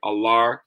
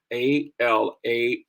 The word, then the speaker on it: Alara: lookout for more again alar collection a-l-a-r-a collection and yes that last a is silent allah not alara alar alar collection thank you all so